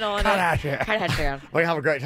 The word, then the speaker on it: Kardashian: Put the right pronunciation on Kardashian.